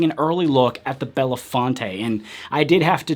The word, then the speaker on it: Belafonte: flagship to make sure it was in fact Belafonte because honestly I wasn't sure if it was Bella font or Belafonte and in the past